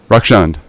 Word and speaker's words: Rakshand: up really bad is it wreck is it Rex and Rec Sean how do you pronounce it rock shunned okay great man oh do you have